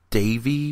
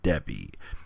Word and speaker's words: Devi: always want to say Debbie I her name is spelled D eevi uh but I know the V is pronounced like a b or the E is pronounced like an a I think that's what